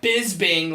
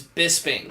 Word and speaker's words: Bisping: And it's not bisbing like all of us Americans say. It's Bisping or it's Bitchbing as uh as as Rampage pronounced it.